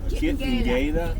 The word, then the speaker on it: Kitengela: Say it like Spanish.